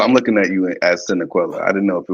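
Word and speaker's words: Sanniquellie: Kyle, I'm looking at you as Senequella. I didn't know if it was a city or whatever the hell it was. Oh, so it's pronounced Sanicole.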